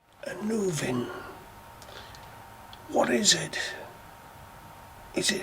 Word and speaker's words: Annwn: I've seen it pronounced in a number of different ways. The simplest, Annwn. But most spellings have Anuvin spelt with an F between the W and the N, which is pronounced as a V in the Welsh language. So Anuvin or Anuvin is my preferred pronunciation.